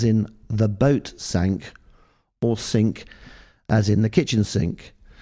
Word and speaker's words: Cinque: Whilst not wishing to assume any authority in the matter of pronunciation, Queen Elizabeth has a personal preference as sink being pronounced sink as in the kitchen sink rather than using the French pronunciation.